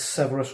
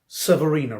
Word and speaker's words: Severina: Sisters of Battle, is Severus Reign. I'll just make sure I pronounce that right. Severina Reign, sorry.